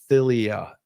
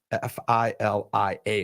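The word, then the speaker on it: philia: you're familiar with and then Thea love it's pronounce filia f i l i a is how you pronounce it but p h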